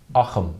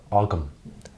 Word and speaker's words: Ogham: that would have been aam or AUM so you can say AUM aam or om and and each will be correct so uh that's just